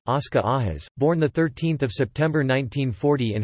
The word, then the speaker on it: Óscar Arias: Óscar Arias Sánchez, Spanish pronunciation, Oscar Ajas, born 13 September 1940 in Heredia, Costa Rica,